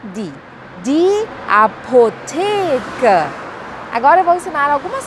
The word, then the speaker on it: Apotheke: E o Ezinho no final tem um sonzinho como se fosse o A do português. E o artigo é di, di Apotheke.